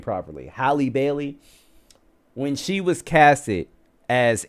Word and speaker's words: Halle Bailey: Do you guys remember when Hallie, whatever her name is, Haley Bailey, whatever, Hallie, I can never pronounce her name properly. Halle Bailey, when she was casted as Ariel for The